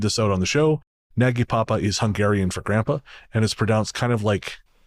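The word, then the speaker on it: Nagypapa: And she says, just in case you decide to read this out on the show, Naggy Papa is Hungarian for grandpa, and it's pronounced kind of like nide, rhymes with tide.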